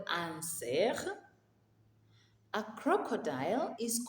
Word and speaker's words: cerf: A deer is called un cerf. Un cerf. That F there is silent.